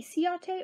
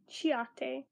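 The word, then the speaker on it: Ciaté: So this is the Chiate, I don't know how to pronounce it. I pronounce it Chiate, but it may be Ciate or Chiate, London, Glow 2 Highlighter in Moondust.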